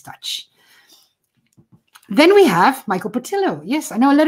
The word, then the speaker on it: Portillo: And so, yes, he is from Spanish descent, which is why his name is, you pronounce it in Spanish as Portillo, and his father was from the southern part of Spain.